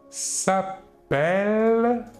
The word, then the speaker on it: s'appelle: première personne du pluriel nous dirons il s'appelle par contre nous dirons avec un seul nous